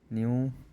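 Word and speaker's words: knew: সোলড গো point গন গো point গন নো নিউ নন নো নিউ নন নো নিউ নন ঠিক আছে এর পরে এন থাকলে কেউ উচ্চারণ হয় না ঠিক আছে পরে এন থাকলে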